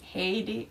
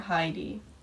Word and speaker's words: Heidi: name pronounced well there's two different options haiti or heidi and i really like don't care which way people call me haiti is like the how like how it's pronounced in finland oh no and then heidi is like more international obama there's a lot